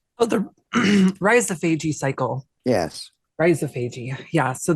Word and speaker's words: rhizophagy: Did I pronounce that right? Oh, the rhizophagy cycle.